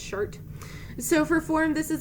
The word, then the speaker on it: Chartres: Next up, we have Chartres Cathedral, apparently pronounced Chart.